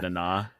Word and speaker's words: Nana: It's spelled like Nana, like Nana, but it's pronounced like Nana Okay.